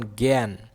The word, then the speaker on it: জ্ঞান: কিন্তু আ যখন ইয় জয় এর সঙ্গে থাকবে, তখন এর উচ্চারণ স্বরে আর উচ্চারণ কি এর মতো হবে? এর মতো হবে, এ। এর মতো উচ্চারিত হবে। যেমন জ্ঞান, দেখছো এই যে জয়জফলা গয়জফলা আকার ন জ্ঞান, এই যে এর মতো উচ্চারিত হয়েছে জ্ঞান।